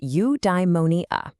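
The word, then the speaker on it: eudaimonia: Udimmonia. It's pronounced udeimmonia.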